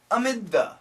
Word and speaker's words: amid: let's talk about pronunciation Amid Amid the amid now we can keep these two sounds together because they're similar dth D the amid the amid the and just keep the th sound amid the bustle of